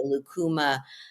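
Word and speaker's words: lúcuma: There was a lucuma flan. Lucuma. What's that? Say it again. Lucuma. I need you for my pronunciation of everything on the show, by the way.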